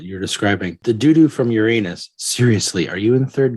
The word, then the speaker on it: Uranus: The doo-doo from Uranus. Seriously, are you in third grade? Stop pronouncing the planet as your anus.